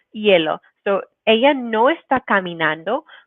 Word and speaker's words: hielo: E and A, and making sure that that H is always a silent letter. So we don't say hielo, but hielo, hielo.